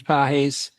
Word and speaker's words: Pagés: Andy, what's correct pronunciation of his name? Andy Pages, Pagés Pagés, yeah. yeah, from Cuba.